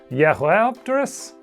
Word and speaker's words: Jeholopterus: Jeholopterus, named in 2002, which I guess should actually be pronounced Jeholopterus? I don't speak Chinese, I'm sorry if I messed up the tones.